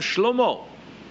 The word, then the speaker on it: Шломо: Мы его называем Шломо. Да, так и действительно его имя произносится, вот по правде Божией, как его назвали.